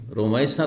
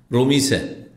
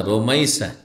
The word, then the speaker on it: রোমাইসা: এই জন্য আমাদের দেশে যে নাম রাখে, রোমাইসা রাখে কিন্তু বিকৃত করে বলে, কারণ দেশের নামের খুব বিকৃতি হয়, তাই না? শুদ্ধ নাম উচ্চারণ খুব কমই লোক করে। রমিসা, কি বলে? রমিসা না, রোমাইসা।